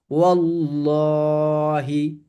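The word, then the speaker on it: والله: তাহলে আমরা জেনেছি ফাতহা বা দম্মা থাকলে ল বা মোটা করে পড়তে হয়। তাহলে কি হবে? ওল্লাহি ওল্লাহি ওল্লাহি।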